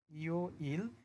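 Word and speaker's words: 요일: ইও-ইল মানে হচ্ছে বার। শব্দটার উচ্চারণ হবে ইও-ইল।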